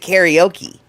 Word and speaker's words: karaoke: But it doesn't flow off my m out of my mouth nearly as easily as karaoke cuz that's how the Americans say it.